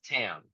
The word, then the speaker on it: Tam: started we're here with is it Tam or time I don't want to say your name wrong it's Tam T oh so I was right yep it's fine honestly